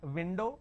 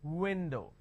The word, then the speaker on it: window: O for example window I can't say it window it's not window it's window so bite your v's and kiss your W's that is a fundamental